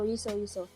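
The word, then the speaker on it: Yi-seo: Kalau di sana tuh bacanya tuh jangan Seo, itu nggak dibaca. Oh, nggak dibaca ya. Aku cuma baca subtitle aja sih. Ya, Yiso. Seo itu jadi So.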